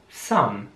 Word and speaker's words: some: Some. Some heißt einige, etwas, manche. Das Wort wird S-O-M-E geschrieben, aber mehr wie S-A-M ausgesprochen aus deutscher Sicht. Also some. Mit einem sehr scharfen S, fast wie S-Z.